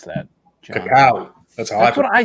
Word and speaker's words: cacao: How do you pronounce that, John? Cacao.